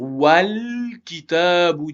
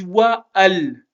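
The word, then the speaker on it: وَالْكِتَابُ: Donc j'ai pas dit wa al, j'ai pas dit wa al. J'ai fait disparaître le son A du alif. Parce que juste avant lui, il y avait le son wa, il y avait le son A du waouh. Donc, je vais faire disparaître le son A du alif. Et ça va faire donc wal.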